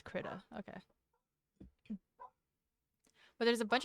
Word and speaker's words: Krita: I'm looking up how to pronounce it. There's a bunch of Krita. It's Krita.